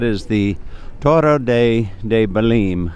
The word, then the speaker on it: Belém: the Toro de de baleen baleen I believe is the pronunciation but anyway I'm going